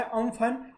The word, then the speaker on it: Amphan: ठीक है, चलिए, अब ये बोला गया है कि ये जो एम्फन है इसका नाम जो है प्रोनाउंस किया गया है अम्फन, और ये जो नाम